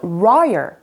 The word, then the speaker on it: royal: 자, R 사운드는요, 이렇게 느끼하게 꼬아줘야 돼요. low 아니고 raw 이렇게. 우리 한국인이 발음할 때는 우처럼 발음했다가 이렇게 당기면서 royal, royal 이게 제일 비슷한 발음이라고 합니다.